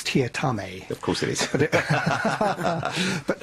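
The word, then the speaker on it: Teatime: And his name, it reads as Mr. Tea Time, but that's the incorrect pronunciation, isn't it? It's Tia Tame.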